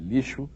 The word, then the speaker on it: lixo: Lixo se escreve com X. O som do X de lixo é som de quê? Som de CH? Não. O X de lixo tem som de X mesmo.